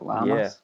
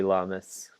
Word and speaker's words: Lamas: Lamas? Yeah, Lamas.